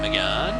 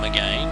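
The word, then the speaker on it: Mégane: It's a Renault Megane, or Megane, depending on how you like to pronounce it.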